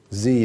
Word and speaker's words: Z: this little cat said z is i guess the right way to say that for the book but zed is what i'm going to use so they're looking at